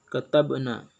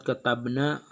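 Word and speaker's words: كتبنا: Kemudian yang ketiga katabna. Pada kalimat katabna ada di situ qalqalah sugro karena huruf ba mati sukun di tengah kalimat. Cara membacanya harus bergerak dan berbunyi seperti membalik huruf.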